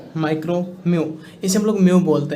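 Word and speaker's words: μ: एम यू ऐसे pronunciate हुआ है म्यू.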